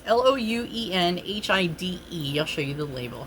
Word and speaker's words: Louenhide: So, I believe it's pronounced Ruinhide, if I'm saying that right. It's like, no, I'm already wrong. Lowenhide. So it's Louenhide.